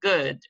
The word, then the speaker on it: good: Okay, and the last question here, does food rhyme with good? Most people said yes, it looks like that, but in reality, no, because food, there is a long oo sound, whereas good, it's short.